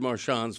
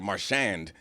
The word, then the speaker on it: Marchand: But I'm bringing together the two sides here by speculating on what is Brad Marchand's favorite soup.